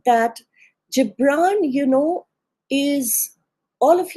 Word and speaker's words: Gibran: Incidentally, it can either be said Gabbran or the American pronunciation is Gibran, but an Arabic research scholine told me that is in Arabic the G is a the G is not G but J. So I choose to stick to the Arabic.